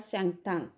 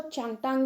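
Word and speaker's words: Changthang: We took a shortcut to गेट ऑफ द शैंगटांग, कई लोग इसको चैंगटांग भी बोलते हैं, कई लोग इसको शैंगटांग भी बोलते हैं। So both words of pronunciation are correct.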